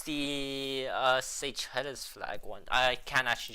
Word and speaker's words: Seychelles: how you pronounce it? Seychelles. Yeah, it's Seychelles.